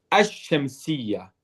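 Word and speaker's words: الشمسية: Du coup, on ne va pas prononcer le lam. Le lam, c'est comme s'il était absent. Ici, le lam, je vous mets une petite croix, car c'est comme si on l'écrit, mais on ne le prononce pas. Yuktab wala yuntaq. Du coup, on va dire ash-shamsiyya.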